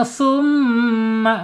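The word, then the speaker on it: ثُمَّ: Kemudian summa baca gunnah ya, ditahan 2 sampai 3 harokat.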